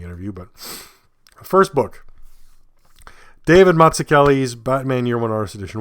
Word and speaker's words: Mazzucchelli: The MAZZ is like pizza, so we all know pizza, and the UCCH is like zucchini. We know zucchini, so Mazzucchelli is like pizza zucchini there.